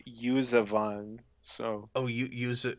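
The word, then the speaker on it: Yuuzhan Vong: buzan pong um well iron shell says it's pronounced usavan so oh you use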